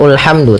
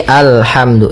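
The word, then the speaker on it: الْحَمْدُ: Kemudian pada ayat yang selanjutnya Alhamdulillahirabbil Di sini kita baca alhamdu maka apabila ada alif lam di awal bacaan maka a-nya dibaca dengan fathah alhamdu. Nah, di sini bukan ulhamdu tapi alhamdu ini tanda alif itu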